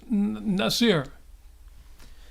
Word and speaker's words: Nasir: It's pronounced Nasir.